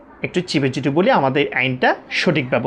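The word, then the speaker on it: ع: হি হু হা হি হু এরপর আসি আমরা আইন আইন আইন আইন আমরা যখন বলবো তখন হলকের মাঝখান থেকে একটু চিপে বলব পড়াটা একটু চিপে যদি বলি আমাদের আইনটা সঠিকভাবে উচ্চারণ হবে কিভাবে বলব আইন আইন আইন আইন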